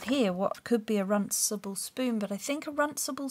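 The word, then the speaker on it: runcible spoon: run simple spoon oh you have to roll your eyes if you're going to say it properly runsable spoon there we go and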